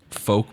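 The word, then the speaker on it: Fouke: Folk Arkansas, not Arkansas.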